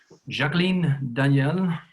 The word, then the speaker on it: Jacqueline: And our fourth guest is Jacqueline Daniell. I pronounce it in French because Jacqueline is now on a holiday, as I know, in France.